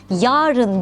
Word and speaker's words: yarın: Hakta efendim Yarın derken a sesi kısadır yarın diye uzatmalıyız yarın diye kısa telaffuz etmeliyiz Yarın içinde bulunulan günden